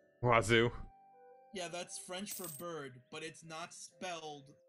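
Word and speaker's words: oiseau: Wazoo. Wazoo. Yeah, that's French for bird, but it's not spelled in any way that makes sense. Every single letter is pronounced wrong.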